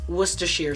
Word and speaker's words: Worcestershire: It's Worcestershire sauce.